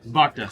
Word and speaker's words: Bhakta: Baka. Yeah, Bhakta.